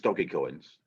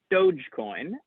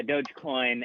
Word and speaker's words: Dogecoin: collateralized stable coins so i can't use doggy coins i believe it's pronounced dogecoin um and uh and and